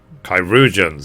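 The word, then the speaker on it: chirurgeons: by our most skilled kyans kyans that's how you pronounce it finally I know bear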